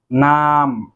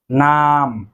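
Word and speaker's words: numb: তো এখানেও কিন্তু বি এর উচ্চারণ হবে না, বি এর উচ্চারণ সাইলেন্ট থাকবে। নাম, নাম, অবশ।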